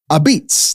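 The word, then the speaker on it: apizza: Oh wait, it's not called that. A beats, that's how you say it.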